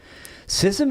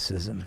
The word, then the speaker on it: schism: one, by the way, I know who says schism. that's usually a good sign I'm pronouncing a word wrong. in the building. I don't know anybody else who says schism. I've got a lot of Who words says that schism?